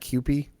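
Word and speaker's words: CUPE: it was um how do you say that qp c-u-p-e yeah yeah um anyways it was the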